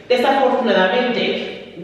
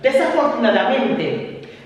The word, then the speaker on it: desafortunadamente: Desafortunadamente, which means unfortunately.